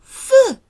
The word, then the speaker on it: feu: Feu. Attention. Feu. So often EU is pronounced that frowny sound. Feu, like euro, feu, un peu.